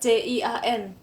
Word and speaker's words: 间: 时间 tadi yang tanya JIAN JIAN bacanya gimana? Dibacanya itu kayak CIAN. Cien. Oh, sorry. CIAN.